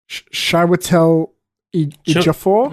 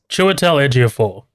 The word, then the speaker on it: Chiwetel Ejiofor: I remember this guy, I think his name's pronounced Chiwetel Ejiofor. Hold on. You're so bad at Chiwetel. I'm so bad at names. Chiwetel Ejiofor.